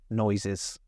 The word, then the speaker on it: noises: Okay, both of those S's actually make Z noises. Okay, noises, and then heard.